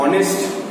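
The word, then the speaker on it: honest: होते हैं कॉन्सोनेंट से, लेकिन जब हम लोग बोलते हैं वो वर्ड तो एच जो है वो कॉन्सोनेंट साइलेंट हो जाएगा. ठीक है, और जो बाकी हिस्सा है वर्ड का वो it sounds like ए vowel and it will have अ vowel. ठीक है, उसका साउंड भी वॉवेल की तरह होगा और जो वर्ड साइलेंट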